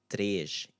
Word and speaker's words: três: So in both ciê, três, me, it's this sound, e, okay? Três, e. Mês, o mês, número três, ciência, is the sound you want to go with there, e.